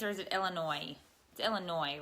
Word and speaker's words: Illinois: the S is it Illinois's or is it Illinois Illinois right you don't pronounce the S do you bulletproof build